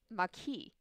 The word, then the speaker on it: Maquis: And this is Maquis. Maquis. We looked up how to pronounce this one ahead of time.